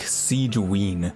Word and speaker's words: Sigewinne: Siege should be nearby she says it like Siege ween like weener SI ween I don't know if